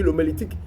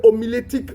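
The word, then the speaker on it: homilétique: y a des personnes quand je dit l'omélitique il SAV même pas de quoi il s'agit alors qu'il dit sont pasteur l'omélitique qu'on appelle l'omilitique voilà c'est l'omilétique vous voyez comme c'est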